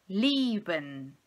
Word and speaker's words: lieben: Nós chamamos isso no idioma alemão de langes I, ou seja, um I longo, o som do I longo. Então eu vou dizer lieben.